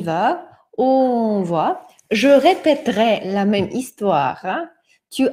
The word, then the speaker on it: répéterai: Regardez, comme ce E ne se prononce pas, c'est-à-dire la syllabe devient fermée, c'est-à-dire le son devient ouvert. Voilà. Répéterai.